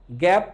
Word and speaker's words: GAAP: হিসাব বিজ্ঞানের নীতিমালা, হিসাব বিজ্ঞানের নীতিমালা বলতে যেটাকে বোঝানো হয় সেটা হচ্ছে এইটা, দেখেন বোর্ডে আমি লিখছি, উচ্চারণ করেন GAAP, গ্যাপ, generally accepted accounting principles.